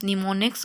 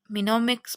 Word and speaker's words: mnemonics: इट is pronounced as निमोनिक्स, यानी यहाँ पे MNEMONICS मिनोमिक्स बन रहा है, मिनिमोनिक्स बन रहा है ना, तो हम इसे निमोनिक्स प्रोनाउंस करेंगे। यानी यहाँ पे एम क्या है? साइलेंट है, तो हमने निमोनिक्स पढ़ना है इसे।